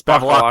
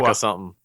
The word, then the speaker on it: Bevilacqua: It's Bevilacqua. Bakalaka something. Bevilacqua. Oh, Bevilacqua. Bevilacqua. Yeah. It's too many syllables I for me believe to it.